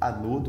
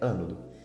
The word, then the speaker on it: ânodo: Muitas pessoas chamam de anodo, mas a pronúncia correta é ânodo.